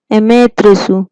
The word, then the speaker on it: Amaterasu: Amaterasu, pronounce it Amaterasu, mean sun goddess.